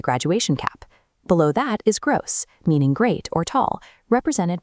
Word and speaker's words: groß: It functions as a sharp double S. So, the word is pronounced groß, rhyming with the English word dose. Now, read them out loud with me. Nett, intelligent, groß.